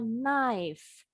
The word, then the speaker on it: knife: The K is silent, bacanya knife. Knife, bunyi F.